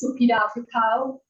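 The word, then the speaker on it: Supida Piwkhow: My name is Supida Pukau. It is spelled SUPIDA-PIWKHOW.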